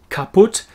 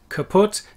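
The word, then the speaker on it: kaputt: as i was saying these lazy umlaut sounds kaput kaput sorry to my german friends it's not the word kaput that you are used to it's kaput it's one of our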